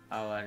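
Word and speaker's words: hour: कब से, 1 घंटे से, तो 4 एन आवर। ध्यान रखना है, आवर एक ऐसा शब्द है इसमें अंदर एच साइलेंट है, इसके लिए हम एन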